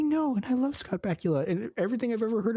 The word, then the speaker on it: Bakula: Bakula's name and so he called him Bakula forever and I I think that's a much cooler way of pronouncing it especially Dan having a a British accent but it's bacula Scott Pula give us